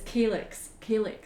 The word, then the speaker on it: calyx: It's calyx. I always get told off because I always say it wrong, so I do apologise if anybody's offended by the way that I say my words. But I often like say calyx wrong, so I've said it right, and my pal Marcia